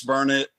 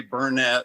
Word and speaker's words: Burnet: Is it Burnet, Texas? Yes, it's Burnet. Don't ever say Burnett, or people around here will get after you about it.